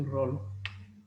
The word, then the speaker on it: Rollo: La pronunciación es así, Rollo.